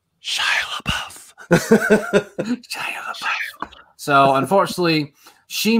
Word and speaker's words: Shia LaBeouf: No, you're not you saying it right. It. It's Shia LaBeouf.